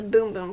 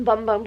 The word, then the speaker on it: Bum Bum: same scent as the boom boom cream which depending I I always thought it was the bum bum cream but apparently the bum part is pronounced boom so um yeah I